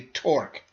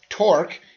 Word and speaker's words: torque: excess is called a torque it's pronounced torque it rhymes with fork if I apply a